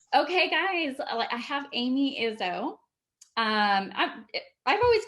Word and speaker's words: Izzo: Okay, guys, I have Amy Izzo. I've always called you Amy Izzo. If am I Yeah, pronouncing it right?